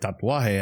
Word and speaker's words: tatuaje: They're like, tatuaje. And I go, can you spell that for me?